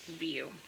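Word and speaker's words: Wiuff: name is spelled w-i-u-f-f but um it is pronounced view because she said that somewhere I can't remember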